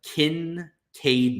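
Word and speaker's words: Kincaid: 30 seconds it's crazy Dalton kin Cade now is how it's pronounced cool um watched a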